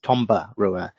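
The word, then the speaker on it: Toberua: lesson so an Fijian anytime you see there were the letter B you put an M in front of it so this is pronounced Tomba Rua and the same goes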